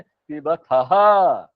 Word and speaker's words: पिबथः: पिव पिव खो और थ में बहुत अंतर है तो हम क्या बोलेंगे पिबथः उच्चारण हमारा क्या होना चाहिए थ और जो अंत वाला बहुवचन शब्द है पिबथ वो क्या होगा पिबथ अ लगेगा सिर्फ अह नहीं लगेगा अ बहुत ध्यान रखना